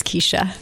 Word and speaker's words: Kecia: CORI JENSEN: "Kee-shuh." KECIA : Most people say "Keh-shuh" based on how it's spelled.